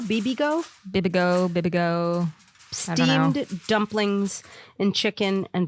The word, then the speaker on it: Bibigo: How do you pronounce this? Bibigo? Bibigo.